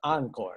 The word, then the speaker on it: encore: encore okay it's pronounced encore you know notice that the first syllable sounds like division director anne's name yeah an okay so encore that's